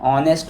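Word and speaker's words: honest: एन ऑनेस्ट मैन। यहां पे आ का साउंड आता है। एच साइलेंट है।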